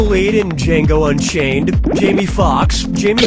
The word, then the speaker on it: Foxx: Player 1, Jamie Foxx's last name has 2 X's in it. The first X is silent.